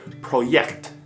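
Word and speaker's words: Projekt: completely different in german j in german is pronounced more like a y in english so project and when you put that letter or that pronunciation in front of the kt a very sharp ending sound project which is pretty soft of a word in english turns into project which can come off very harsh if you're talking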